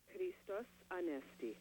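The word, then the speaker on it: Χριστός Ανέστη: Christos Anesti.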